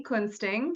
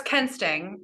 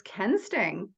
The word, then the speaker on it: Kuensting: her name is Annie Quin sting did I pronounce that right no it's Ken sting but I mean the U is silent but it's not supposed